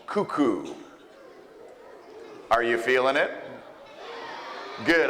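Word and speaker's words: Kuku: So cuckoo is spelled K-U-K-U, and it has nothing to do with birds, clocks, Cocoa Puffs, or crazy people.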